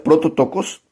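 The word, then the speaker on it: πρωτότοκος: el código 44 16 proto tocos se pronuncia proto tocos y es la palabra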